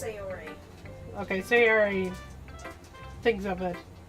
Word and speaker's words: Sayori: I think it's pronounced Sayori.